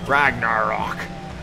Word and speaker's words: Ragnarok: Ragnarok. That's how you pronounce it.